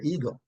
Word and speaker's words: ego: The pronunciation, however, is ego, ego, ego. Yes, like how we talk about egg, brown egg, white egg, chicken egg, pigeon egg, ego, right?